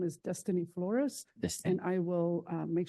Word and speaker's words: Dystaine: And just a point of clarification, you said Dustin Flores or Destiny? It's Destiny. It's spelled a little funny. It's DYSTAINE. Destiny. DYS.